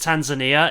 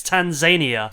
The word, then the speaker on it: Tanzania: I think one of them told him that like no, it's not pronounced Tanzania, it's Tanzania.